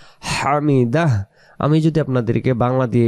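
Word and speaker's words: حمد: রুকু থেকে সোজা দ্বারে বলি সামি আল্লাহু লিমান হামিদাহ এটার অর্থ এটাই।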